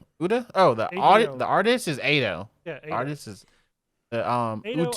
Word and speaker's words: Ado: Like Otto, is that how you say your name? Ado? How do you say your name? Uda? Oh, the artist is Ado.